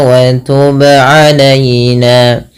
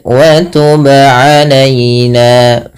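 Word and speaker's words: وتب علينا: Kemudian wa tub alaina, ba qalqalah, wajib memantul, tidak hanya sekedar wa tub alaina. Kalau hanya wa tub alaina maka salah dan tidak ada pantulan.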